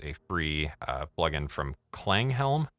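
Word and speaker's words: Klanghelm: free uh plugin from clang Helm believe is how that's pronounced driven up just a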